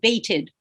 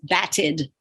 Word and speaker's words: batted: If I wanted to say past tense batted, but I wrote that, I must pronounce that baited. But that's the wrong sound because the word is bat. What must I need to do? Before adding that vowel, E, D for the past tense, I must double my consonant, and that keeps the short sound of the A.